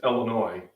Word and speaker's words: Illinois: in illinois and it's illinois you don't pronounce the s it's a french word you ignore it and uh when i